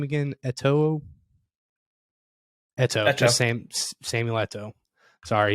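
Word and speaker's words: Eto'o: ateo how do you say his name again ATO that's the same sameletoe sorry he was a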